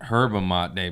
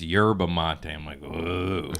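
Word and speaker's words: yerba mate: you say it yeah I was calling it her Bamonte day but all my fans are like it's yerba Monti your bouquet thanks for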